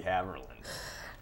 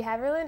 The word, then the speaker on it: Haverland: more than hi my name is is hamerlin um um okay now what did you say my name's haverland and i like to play tennis all right